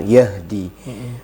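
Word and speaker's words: يَهْدِي: apa namanya komentar Yahdi ya dibacanya Yahdi jadi yang benar Yahdi kemudian aqwamu aqwamu wya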